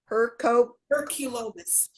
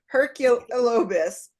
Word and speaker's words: Herculobus: Herculobus. Like Hercules. Herculobus.